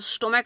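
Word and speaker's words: stomach: ई एस लगाते हैं, लेकिन यहाँ पर स्टोमक सी एच जो आया इसका प्रोनाउंसिएशन क है, स्टोमक क।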